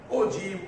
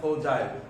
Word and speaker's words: ogive: Ogive, Ojai. My teacher used to pronounce Ojai, but actual pronunciation is ogive.